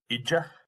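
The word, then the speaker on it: oide: oi d o i d e but it's pronounced ida um and it's the Irish word for teacher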